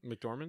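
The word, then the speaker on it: McDormand: you doing like the Francis how do you pronounce her last name mcdorman mcdorman yeah um and she's just a great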